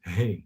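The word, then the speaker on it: ה: how you pronounce it hey like you say like hey house right hey hey like hey you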